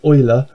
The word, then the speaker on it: Euler: I don't know, named after a chap called Euler, but that's spelled E-U-L-E-R, and it's one of the irrational